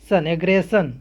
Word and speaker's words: aggression: उसी प्रकार से AGGRESSION, यहाँ पर भी डबल एस के बाद ION आया है, यहाँ पर भी क्या हो जाएगा दंती सा ही होगा, यानी एग्रेशन, एग्रेशन मीन्स हमला।